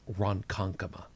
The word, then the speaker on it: Ronkonkoma: One of the easiest is Ronkonkoma, which actually is spelled the way that you think it should be spelled.